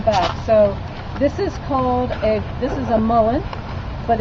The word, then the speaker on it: Mullein: It's called the woolly mullein? No, this one is called mullein virgatum. M-U-L-L-I-U. How you spell that though?